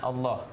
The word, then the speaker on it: Allah: Allah maka dibaca tipis jadi untuk kalimat Allah ini ada dua cara bacanya pertama tafkhim disebabkan oleh huruf yang berharakat fathah atau dhomah sebelum kalimat Allahnya kemudian kalau kasrah Itu